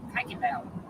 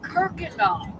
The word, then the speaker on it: Kuykendall: And I pronounced it Kuykendall. Yeah. And they looked at me like, what? I spelled it for them, and they said, oh, Kirkendall.